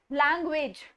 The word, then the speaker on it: language: अब यहाँ पर इस पूरे वर्ड में 2 ए आ रहे हैं. ठीक है, लैंग्वेज एंड स्टिल इन दोनों में ए की जो प्रोनाउंसिएशन है वो टोटली डिफरेंट है. लैंग्वेज, एक में ए और एक में ए. व्हाई is that? That is because syllables. Syllables क्या होते हैं?